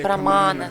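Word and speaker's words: प्रमाण: Третья великая тема на санскрите — прамана. Скажите прамана. Если вы хотите очень хорошо произнести, то вот так нужно язык назад. Прамана. Большинство санскрита произносится с языком загнутым вглубь.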